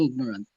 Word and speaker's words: ignorant: useful pleasure accidental accident sound the g in ignorant in muscle s and